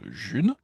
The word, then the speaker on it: Ğ1: En fait, je vous parle de la June, ça s'écrit G libre 1, ça se prononce June et elle existe déjà.